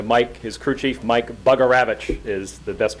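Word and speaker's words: Bugarewicz: And Brian's referring to Mike, his crew chief, Mike Bugaravich is the best pronunciation of his name.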